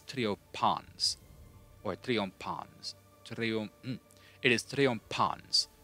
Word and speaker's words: triumphans: P-H, T-H, and C-H. None of them do, like, their weird change it to a completely different sound. So, it's not triumphans, it is triopans.